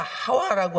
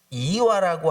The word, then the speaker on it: 하와: 이 아담과 하와라고 하는 이름은요, 히브리 네임입니다. 히브리 원어 성경에 이스라엘 사람들이 사용하던 히브리 네임입니다. 그래서 아담과 하와라고 이름 주셨고 발음도 아담과 하와가 히브리 원어 성경에는 맞습니다.